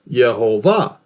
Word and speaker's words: Yehovah: It's Yehovah. Pronounced exactly like that.